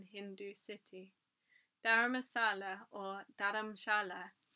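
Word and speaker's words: Dharamshala: city dhara masala or daramshala as it is pronounced in hindi means spiritual dwelling combining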